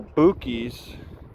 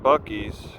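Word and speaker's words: Buc-ee's: to Waco all right the Garmin pronounces the this place called called the color boo keys I would call it Bucky's though crackles love it it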